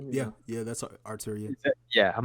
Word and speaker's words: Arturia: um and yeah, but rent to own, like there's a like Arturia, like they have or is that how you say it? I don't even yeah, know. yeah. That's Arturia.